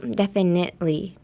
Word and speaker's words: definitely: So the T in definitely is silent. Definitely.